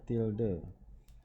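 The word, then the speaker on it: tilde: CD till till the ini dibacanya adalah till the dimana keyboard-nya keyboard nya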